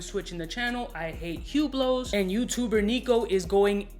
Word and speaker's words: Hublot: the channel i hate hublots and youtuber nico is going ape right now it's the right way to pronounce the brand name with no h and no t right no hublot is pronounced